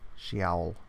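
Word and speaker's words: Sheol: of hell no that's she ol - hmm which is pronounced she vowel she owl she al she owl interesting orcas David Roger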